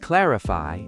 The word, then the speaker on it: clarify: The word clarify is pronounced clarify with stress on the first syllable.